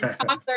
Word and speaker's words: Chaucer: Am I pronouncing that correctly? Chaucer?